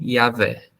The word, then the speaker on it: Yahvé: próximo que eles chegaram da tradução e da pronunciação foi Yahvé.